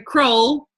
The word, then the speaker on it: Crowell: my friends that live up the street whose last name is Howell, their name is not Hole. So that's where I got the fact that her name is, I still say I want to say it wrong. Sometimes I want to say it's Crowell. No, it's Crowell.